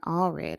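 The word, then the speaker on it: Allred: BG home safely his name is representative Colin alred of Texas and I want to be clear on that I've had my name mispronounced all my life and I absolutely do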